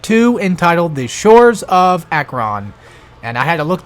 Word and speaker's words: Acheron: we're doing part two entitled the shores of Akron and I had to look that one up